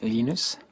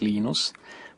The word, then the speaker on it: Linus: I speak Swedish it's youus when I speak Finnish it's lenus when I speak English it's lonus and I really don't care how people pronounce my name but Linux is always